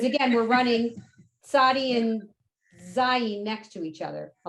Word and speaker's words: zayin: Zayin is more of a lazy Z, like the letter Z.